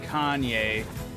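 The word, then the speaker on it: Kainé: It's pronounced Kanye. Don't they say Kyn? Pretty sure they say Kanye.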